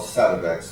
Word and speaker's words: Sativex: It's called Sativex. It's a 50-50. How do you spell that? SATIVEX. Sativex. All right. Like sativa. Yeah. Right. And then VEX.